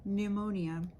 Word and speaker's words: pneumonia: s for example psychology PN sounds like n for example pneumonia tips on pronunciation C